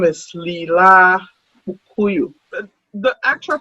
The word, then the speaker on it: Leelai: Um, my name is Leelai Kpukuyou. The actual pronunciation is Leelai. Leelai.